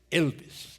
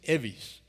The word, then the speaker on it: Evis: Yo intentaba explicarle que no es Elvis, que es Evis, pero seguían llamándome como el rockero. Otros querían mejorar un poco la pronunciación y me llamaban Ives.